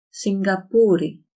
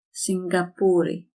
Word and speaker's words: Σιγκαπούρη: Σιγκαπούρη. You pronounce this as ng. Σιγκαπούρη.